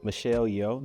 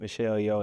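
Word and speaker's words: Michelle Yeoh: Yeah, I just a tie between like how you say Michelle Yo, that's how you say her name. Michelle Yo and Silly Murphy.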